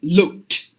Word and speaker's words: looked: spelling is AD but you have to replace it with t sound you just have to pronounce the word as looked looked with the T sound exactly not the ed sound not the ed sound